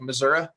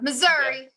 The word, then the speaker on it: Missouri: should it be like Missour or something like that how do you pronounce Missouri sometimes yeah Missouri so they don't say Missouri no Southerners say Missour is that how it work okay got it okay